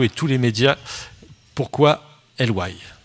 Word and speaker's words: LY: Voilà, c'est LY si je prononce bien, c'est ça ?